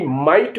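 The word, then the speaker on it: might: टी फाइट लड़ाई एम आई जी एच टी माइट माने शक्ति एफ एल आई जी एच टी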